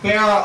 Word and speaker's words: Barat: Keep Barat open. The T is silent, but we are not. Good evening, and welcome to the Keep Barat campaign rally.